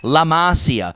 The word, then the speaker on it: La Masia: It's La Masia, rhymes with panacea.